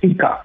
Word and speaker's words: Pika: Yeah, it's Pika, P-I-K-A. P-I-K-A. Yeah, it's a unique name, hence I always pronounce it before I speak the name.